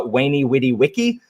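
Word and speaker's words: veni, vidi, vici: knows many vidibici um in latin it's actually pronounced uh wayney witty wiki uh which sounds significantly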